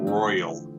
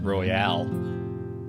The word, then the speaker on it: Royale: win in a hell in the cell battle royal between the megadeth the Nintendo dad and the fellas from if we're a Nintendo you mispronounced Royale Yeah Yeah right pal royal he could Roy